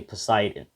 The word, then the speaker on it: Poseidon: in the comments that i was saying the name wrong of the god of water his name was actually poseidon and the three greek gods i'm sorry that